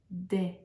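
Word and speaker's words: dais: the the blue um in French we say de it's spelled d-a-i-s it's I guess a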